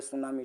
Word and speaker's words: tsunami: जापानी शब्द है सुनामी दोस्तों, TSUNAMI होता है सुनामी, टी से स्पेलिंग शुरू होता है इसे।